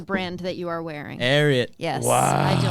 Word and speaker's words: Ariat: Ariat. Yes. Wow. I don't know how to pronounce Ariat it. Yeah. is After, hold on, I learned. Say it I again, learned Gavin. it's after Secretariat.